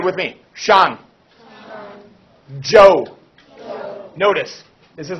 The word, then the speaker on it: Zhou: the son all right you say with me Joe notice this is like a soft a this is the CH kind of like a J Shawn Joe Shawn chin chin the Q ends up like